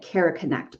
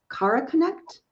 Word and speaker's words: Kara Connect: I've been calling it Cara Connect, but it's Cara Connect.